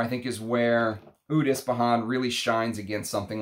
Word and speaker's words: Ispahan: And in English, it's basically pronounced Ispahan, right?